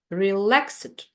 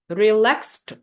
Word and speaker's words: relaxed: we have relaxed relaxed you see that in spite of the fact that in spelling there seem we should seemingly have three uh vowels in in pronunciation in our transcription there will be the place just for two vowel sounds re and La relaxed relaxed relaxed that's why we have two syllables in the word not three and here